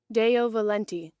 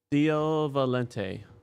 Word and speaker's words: Deo Valente: do Val that's my guess how you pronounce it Deo Valente oh Deo Valente Deo Valente Deo Valente Deo Valente de Valente